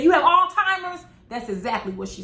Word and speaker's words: Alzheimer's: correct her she said you mean alzheimer's with a z when if you go